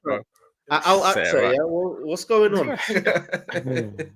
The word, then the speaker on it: Al-Aqsa: La Axa. Say it right, bro. Al-Aqsa, yeah.